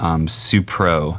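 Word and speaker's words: Supreaux: is a diy circuit called the runoff groove supro and they spell it s-u-p-r-e-a-u-x um very handy baton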